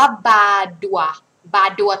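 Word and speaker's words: Badoit: ะ ค ะ อ่ า น ว่ า บ า ดั ว ตั ว เ สี ย ง เ ต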